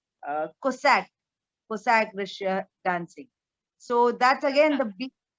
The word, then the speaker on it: Cossack: I think Kazakh. Well, how do you spell? How do you pronounce it? I really don't know. It's Cossack Russia dancing.